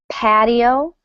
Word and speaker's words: patio: Notice that in American English, the T sounds like a D. Patio. Paddo. Patio. Patio. Um, if you'd like to pronounce more of a T, you can. It might sound a little bit British.